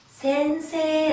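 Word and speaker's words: 先生: 선생님이라 나라로 많이 들어봤을 건 게 일본놈들이 생이라고 발음은 하지 않죠 발굴할 때 기회를 길게 빼줍니다 쓰기는 이야 우스워 어떻게 안 오니까 센세 라고 아주 센세 에센스 새 잘좀 자리에 이르렀다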